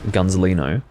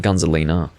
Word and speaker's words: Gunzelino: I need to be careful with how I pronounce your name, because if I half-ass the pronunciation of Gunzelino, it sounds like Gunzelina. So we don't want to be saying Gunzelina, different name.